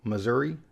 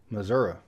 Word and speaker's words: Missouri: vast majority of the population pronounces it properly, Missouri. But kind of like Colorado, you might get some country folk out there saying Missouri. However, a lot of the people that say Missouri live there.